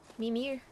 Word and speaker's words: Mimir: Mimir.